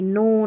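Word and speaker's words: know: जैसे नो, knife और ये नी, इस तरीके से हम के को नहीं पढ़ रहे हैं के एन वाले कॉम्बिनेशन में।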